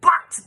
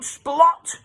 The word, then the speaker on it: Splatt: "It's Splatt, not Splot, and can't you read?"